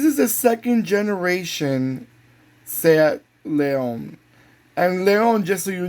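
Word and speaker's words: León: This is the second generation Seat Leon.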